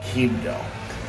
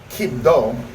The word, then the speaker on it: Quibdó: starting off point of Quibdó. Now, Quibdó, which again, you have to accent the O, is the capital city of Chocó.